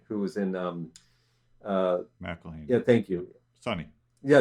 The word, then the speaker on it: McElhenney: And there's also the script, the screenwriting, the lead, Rob McElhenney, I think that's how you say his name, who was in McElhenney.